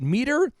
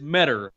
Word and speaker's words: Meador: our listeners out there it is matter I think it's easiest to think matter is better better is better and matter also rhymes with cheddar this just in now